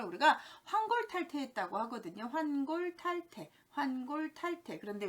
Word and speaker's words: 환골탈태: 환골탈태, 환골탈태. 그런데 왠지 탈태라는 발음이 탈퇴가 돼서 환골탈퇴 이렇게 하는데요.